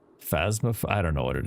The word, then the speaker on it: Phasmophobia: I always call it phantasmophobia, but I think it's phasma.